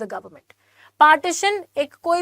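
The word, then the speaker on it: partisan: पार्टीशन mean ये वो पार्टीशन नहीं है जो इंडिया पाकिस्तान का हुआ था पार्टिजन पी ए आर टी आई एस ए एन जिसको हम प्रोनाउंस पार्टीशन बोलते हैं क्या क्या होता है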